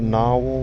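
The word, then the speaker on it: Gnarwhal: this is called a narwhal bar and it's it's spelled with a g not like the whale now or it's gn jones guy is one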